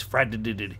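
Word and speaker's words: Fardd: 2 D's, Frad, Frad, you emphasize the D.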